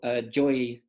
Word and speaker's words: Yoi: So first of all, Yoi Kawakubo, and apparently he pronounces it Joy because he's born in Spain, works primarily in London and Tokyo as an artist.